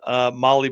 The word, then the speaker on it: Mahle: And for all our podcast listeners, Molly is spelled Mahle.